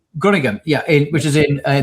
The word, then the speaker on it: Groningen: Sorry, how do you pronounce that? Groningen. Groningen, yeah, which is in the Netherlands.